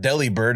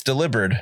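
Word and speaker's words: Delibird: Yeah, everybody said his name wrong for like 20 years. It's not deli bird. It's delivered.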